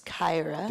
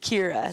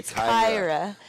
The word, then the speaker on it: Kyra: quote Yeah Kyra there pronounce Kyra what did I say Kira sorry Kyra Kyra there sneaking on